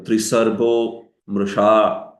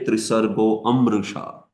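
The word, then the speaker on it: त्रिसर्गोऽमृषा: So we don't say Trisargo Amrisha. Although this apostrophe shows that A is there. But still, we don't pronounce it. You should pronounce it straight. Trisargo mrisha, trisargo mrisha.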